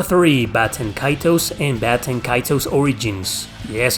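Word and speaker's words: Baten Kaitos: back number three bats and kaitos and Baton kaito's Origins yes it's pronounced baton kaitos I think the reason why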